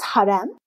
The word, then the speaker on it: harem: Is the word harem correctly pronounced? It is harem.